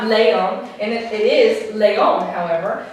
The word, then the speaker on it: león: But because it ends in the letter N, but the tonic syllable is here, does it break a rule? Does it break the rule? Yes, because the tonic syllable should have been here for it being a llana word, but the tonic syllable is here. It breaks the rule for llana words, therefore it gets an accent mark.